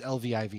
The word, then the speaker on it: Lviv: owner of pravda brewery in ukraine i can't pronounce that word it's i don't know what it is it's lviv it's it's in the western part of ukraine